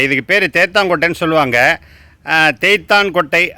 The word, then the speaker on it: தேத்தாங்கொட்டை: தேய்த்தான் கொட்டை அப்படிங்கறது கரெக்டான உச்சரிப்பு. ஆனா பேச்சு வழக்குல அது தேத்தங்கொட்டைன்னு பேரு.